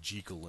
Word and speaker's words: Jekyll: Jekyll and Mr. Hyde, or Dr. Jekyll and Mr. Hyde, if you go by the author's pronunciation.